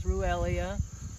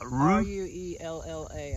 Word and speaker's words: Ruellia: It's Ruellia. And it's a lavender flower, and I don't know if there's a domesticated variety that they do, but... How do you spell it? R-U-E-L-L-A, I think.